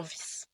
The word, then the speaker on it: vis: son court, comme dans vis. Par contre, si le i est suivi d'un e, c'est un son long et donc ça devient vis.